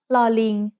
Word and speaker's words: ลอลิง: The sound of ลอลิง as an initial consonant is l, like the L in little.